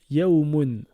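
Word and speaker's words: يوم: Alors, deuxième lettre du premier exemple, on a un waw avec une soukoun, donc le son ou. Juste à côté, on a le mim avec le un, donc moon. Ça nous donne le mot yaoumoun.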